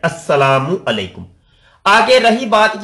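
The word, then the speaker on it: السلام عليكم: अल सलाम, ये असल में है अल सलाम, ठीक है। आप इस तरीके से समझ सकते हैं, अल सलाम, जिसको आप कहते हैं अस्सलामु अलैकुम, ये लाम साइलेंट हो जाता है, ये लाम साइलेंट, अस्सलामु अलैकुम।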